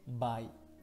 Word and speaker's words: 買: Kaimas, kao. Çincis okunuşu, bai.